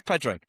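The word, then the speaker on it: Pádraig: Padre, isn't it pronounced Por and then Harrington? Yeah. No, no, it's Padrick.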